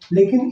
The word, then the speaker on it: lake: LAKE, लेक। लेक का मतलब होता है झील, और देखिए इस लेक में भी ई का उच्चारण नहीं है।